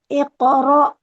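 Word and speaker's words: اقرأ: Jangan langsung iqra. Jangan iqo. Iq. Iqra. Bismbikalladzi khalaqo.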